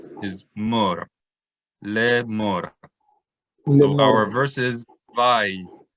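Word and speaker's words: לאמר: Lamed is an L sound plus sere is le. This aleph is silent. So le. Mem plus cholam is mo plus resh is mor. So le mor. Everyone say le mor.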